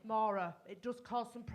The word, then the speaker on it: Maura: That's pronounced Maura. Spelled M-A-U-R-A. And the reason I'm pointing this out is because I get called Nora, Morag, Maureen, Maria, Moira. All lovely names, just not mine.